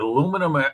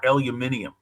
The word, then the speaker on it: aluminium: Is it aluminum or aluminium? Aluminium.